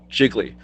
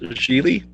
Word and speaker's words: Gigli: said about is when you said the title jiggly you should probably at the title right it's pronounced Gigli otherwise I tells me you don't even really know much about the movie Geely first of all I'm